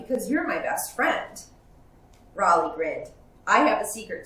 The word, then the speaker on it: Rollie: close to my name it's raleigh with a short o not rowley with a long o roly-poly roly-poly wait rawling